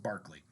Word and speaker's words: Berkeley: against his brother-in-law william barkley and that's how again how you say his name i know it's spelled berkeley but you pronounce it barkley and nathaniel bacon says